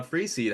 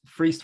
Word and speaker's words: Freeced: this wrong but it's freest one syllable rhymes with Beast uh but what's funny